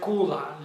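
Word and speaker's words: kulla: that now let's examine another word the word Kula let me spell it k-o-k-u-l-l-a Kula now Kula is a house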